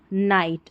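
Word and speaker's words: knight: और यहाँ पर के साइलेंट है, GH भी साइलेंट है।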